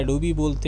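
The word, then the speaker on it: Adobe: तो कोई कोई इसे एडोबी अमेरिकन लैंग्वेज में जो प्रोनाउंसिएशन होता है एडोबी बोलते हैं, कोई कोई इसको एडोब भी बोलते हैं।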